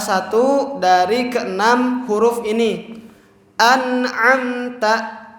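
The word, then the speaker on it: أَنْعَمْتَ: An'amta, maka dibacanya itu tidak ditahan tapi dilangsungkan. Juga nunnya itu jelas.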